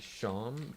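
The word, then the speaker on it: Seam: thanks sean fun fact even though his name looks like it's spelled like uh seed it's actually a scene it's actually sean because it's a play-off of how sean is not in any way spelled like it it would be usually but it's because of the the accent am i actually getting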